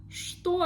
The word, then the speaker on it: что: The word что. Also, we see the letter, the sound ch, but we pronounce it like sh. Что? Что это? Что это? Что это? I don't say ch, I say sh. Что это?